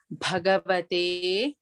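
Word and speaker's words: भगवते: Bhagavate, Bha is Mahaprana. Please make sure we need to stress on it.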